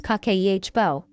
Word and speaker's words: Kakeibo: In 1904, a Japanese journalist named Hanimoto created a method called Kibbo, pronounced kakehbo.